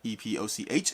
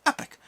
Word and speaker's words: epoch: and Google's like hey the British pronounce she has the pronunciation of e-p-o-c-h is epic Epoch is Epoch and then the American pronunciation is epic and I'm kind of